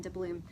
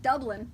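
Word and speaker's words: Dubloon: because the first time I looked at it, what did I call it? Dublin. I called it Dublin.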